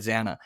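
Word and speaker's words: Xana: and Jennifer nodal uh they say zaina but she said Zana so again um Kaylee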